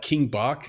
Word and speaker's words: Bach: thinking about people like King Bach is that you say his name Nick yeah because he's the king yeah back from uh Vine or whatever